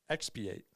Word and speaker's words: expiate: It kind of reminds me of the word expedite, and that's Okay.